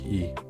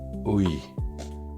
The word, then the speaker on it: 의: On prononce i la seconde n'est pas en première donc I.